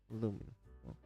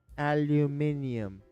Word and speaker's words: aluminium: French like garage aluminum oh aluminum that's an American one it's aluminium ladies and gents aluminium well anyways garage it's